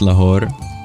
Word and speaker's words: Lahore: so close only steps away is it just pronounced laor good to know tasi thank you so used